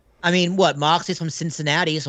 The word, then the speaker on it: Cincinnati: Moxley's from Cincinnati, so it's close enough. Cincinnati. Say it right. Cincinnati.